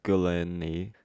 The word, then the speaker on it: Gulini: Okay, next we have Dead Body Love, also known as Gabrielle Gulini.